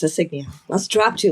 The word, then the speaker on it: Signia: I said it right. Toyota Toyota Toyota has a crown signia which I think a lot of us have said we keep calling it insignia because that's just the easier word and and it's the